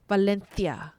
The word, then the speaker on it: Valencia: And fun fact, Valencia, it spells CIA, V A L E N C, but pronounced Valencia, right? Valencia. Valencia. Valenthia.